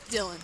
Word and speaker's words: Dylan: pronunciations of the now is this dialing or dylan dylan okay because i we have